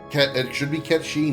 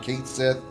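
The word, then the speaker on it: Cait Sith: It should be Ketchi, not Kate Sith.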